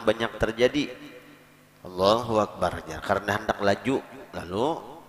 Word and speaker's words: Allahu Akbar: mungkin kadang bisa juga terjadi adalah Hai bisanya Allohuakbar ya Allahu akbar Azzahra Hai jadi harus jelas membacanya dan jangan ditambah lawan Wow diantara kedua